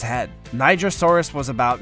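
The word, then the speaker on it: Nigersaurus: Actually, it's quite nice to see something like a Nigrosaurus getting some attention. I'm simply following how Niger is pronounced in French.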